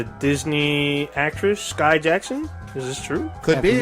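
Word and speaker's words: Skai Jackson: Disney actress Sky Jackson?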